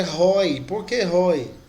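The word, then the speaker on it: οἱ: O nominativo é roi. Por que roi? Porque em cima do iota lá tem uma aspiração áspera. Então a pronúncia é roi.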